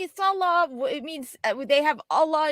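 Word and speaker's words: Sallah: Allah into a name because it's Arabic and we have no clue about Arabic. And it's like, no, it's Salah.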